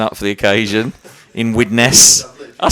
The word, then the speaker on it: Widnes: Thanks for dressing up for the occasion in Widnes.